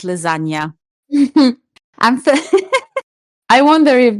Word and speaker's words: lasagna: it's got a G in it that you don't pronounce. Yeah, So it's lasagna, but it's spelt yeah. with a G.